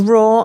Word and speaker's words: Roar: Well, Roar, I always have to say is spelled ROAR. Okay. Not like raw food. It's raw like a lion.